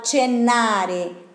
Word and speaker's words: cenare: Vado a cenare. E la CE tiene ese sonido de CE. Ok? Cenare. Como CI tiene sonido de cinema. CI y CE.